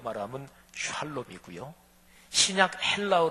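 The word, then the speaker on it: שָׁלוֹם: 성경 원으로 말하면 구약 원어 히브리어 2 말하면 샬롬 이구요 신약 헬라어 로 말하면 에이레네 이렇게 발음을 해요 사랑하시는 여러분 평강 평화가 넘치지 않아요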